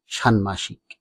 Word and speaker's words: ষাণ্মাষিক: হয় বা যুক্ত থাকে তাহলে ম এর উচ্চারণ বজায় থাকে এই নিয়মটি রয়েছে বাংলা